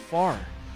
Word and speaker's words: Fahrer: night because I was trying to pronounce my next guest thing correctly and he's like it's just far so I have John far the proprietor for script